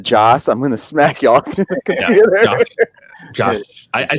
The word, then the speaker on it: Joss: yeah and also also if everyone keeps saying Josh Whedon instead of Joss I'm gonna smack y'all